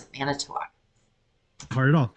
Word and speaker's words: Manitowoc: Manitowoc. That's how you pronounce it. Manitowoc. Hard at all. How do you... That's Manitowoc. Manitowoc. Manitowoc. No. Never once. One less syllable.